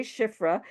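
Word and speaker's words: שפרה: The name means, it's spelled Shin Pei Resh He, Shifra. It's related to Mishaperet, which means to beautify.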